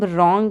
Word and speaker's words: wrong: Knees, psychology, dumb, wrong, right. These are the words where in the knees K is silent, in psychology P is silent, in dumb M is silent, in wrong W is silent, in right W is silent.